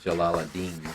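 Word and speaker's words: Jalal ad-Din: this poem by roomie how do you say his first name uh I say it Jalal Adine jalad roomie who is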